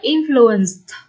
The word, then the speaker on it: influenced: Ví dụ mình đọc là influenced, được chưa?